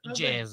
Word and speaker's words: jazz: l'obiettivo dell'intervista, perché alcuni dicono jazz. No, non è jazz. Lino Patruno, che è il grande in questo settore, io sposo la causa e quindi l'idea che se è nato in America deve essere pronunciato come l'America, quindi jazz. Si pronuncia jazz.